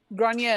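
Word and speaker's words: Gráinne: Grania and what? Adine. Adine. Which is spelled Eadaoin. I'm into it. India and Aldine. Got it. And Grania is spelled Grainne with an accent.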